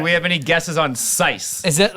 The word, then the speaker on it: syce: It's sice. Can you spell that?